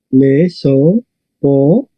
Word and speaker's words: Mesopotamia: Mesopotamia. Correcto. Recordar, IA no es un diptongo.